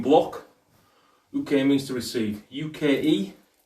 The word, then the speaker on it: Uke: UKE, but pronounced Uke.